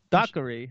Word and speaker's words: Dockery: Dockery.